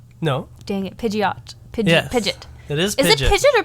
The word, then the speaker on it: Pidgeot: is it Pidgeotto no dang it Pidgeot Pidge pidet it is PID pidet or Pidgeot how do